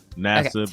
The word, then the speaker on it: Nassib: Is that how you pronounce his last name? Yeah. Nassib, Nassib. Nassib.